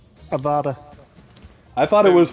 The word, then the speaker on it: Avada: there isn't it but it's the way it's pronounced Avada I thought it was pronounced or however he